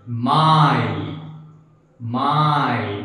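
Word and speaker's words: Mai: I or e i it is pronounced as I for an example let's give m a i my my that means May let's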